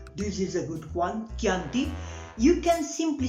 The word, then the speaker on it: Chianti: to say Chianti, not Chianti, as I many times I hear, Chianti doesn't exist. Chianti, because in Italian, when we read the C followed by a H, we pronounce it like a K, very strong, K, K, okay?